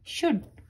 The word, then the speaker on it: should: SHOULD शुड, इसमें L silent है और O भी।